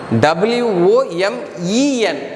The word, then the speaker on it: women: what is a woman w-o-m-a-n it should be pronounced as woman w-o-m-e-n that should be pronounced as women woman means singular m-e-n